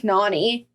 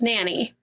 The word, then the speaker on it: Nannie: go me well see I would think Nanie no it's n a n n i e it's Nanny okay okay anyway or Nong